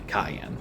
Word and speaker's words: Cyan: now I know his name is actually Kayan, with a hard C.